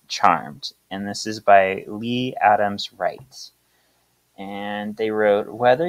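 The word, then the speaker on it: Leigh: pushed the other sisters to grow so it's pronounced Lee right l e i g Lee Le okay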